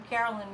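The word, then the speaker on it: Caroline: And Carolyn Mace, if you want to look her up, it's C-A-R-O-L-I-N-E, and her last name is spelled M like Mary, Y-S-S.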